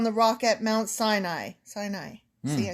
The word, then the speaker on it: Sinai: Sinai.